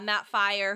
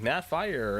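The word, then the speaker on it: Firor: Studio director Matt Fior uh fire I always pronounce it wrong uh Matt fire who kind of came up and just talked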